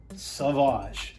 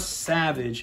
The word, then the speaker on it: Sauvage: So, in case y'all don't know, it says Sauvage. It is not Savage, it is Sauvage.